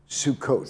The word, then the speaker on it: Sukkot: Now, you've got a holiday of, how do you say, is it Sukkot? Sukkot.